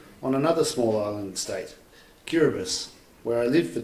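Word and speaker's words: Kiribati: my five diplomatic postings does anyone know where cbus is it it's spelled cbati if when you see it um written and it used to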